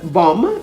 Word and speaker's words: bomb: some silent letter rules we don't usually pronounce the letter b in a word if it is after m at the end of a word such as in the words bomb b-o-m-b comb c-o-m-b to